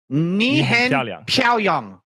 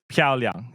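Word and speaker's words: 漂亮: Knee hen piao liang. They'll understand that, but it's piao liang.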